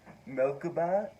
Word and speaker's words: Merkabah: So what I'm going to be presenting today is a Merkabah. That's how you say it in Hebrew.